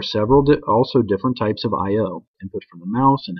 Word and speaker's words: I/O: This is called I/O, pronounced like the letters I/O, because it deals with input and output of the program.